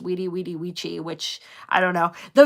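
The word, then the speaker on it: veni, vidi, vici: It says vini vidy vichi which is actually pronounced wedi wedi which I don't know the v sounds I like it better with the v sound.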